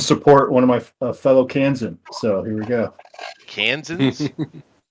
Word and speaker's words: Kansan: And I got to show up and support one of my fellow Kansan.